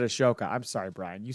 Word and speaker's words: Ahsoka: Edge and perhaps find Ahsoka oh he said a shoka I'm sorry Brian you said it right and